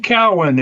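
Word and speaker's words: Keown: Keon. Wayne. Wayne Cowan. It's a It's like It's spelled like K E O W N.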